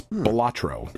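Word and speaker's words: Balatro: Jester or buffoon so a joker card it's batro okay it's really awesome like it's just a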